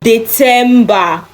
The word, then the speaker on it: Dezember: December in German is Dezember, December, not December because it is Z. No, remember Z is TS in German.